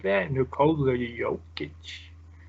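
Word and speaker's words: Jokić: back to back picks 12 13 serum nicola yokic the joker like that is that how you say it you have to say it like that no codes are you yolk itch it's fun try it too if you've ever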